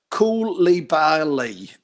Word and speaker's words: Koulibaly: Koulibaly.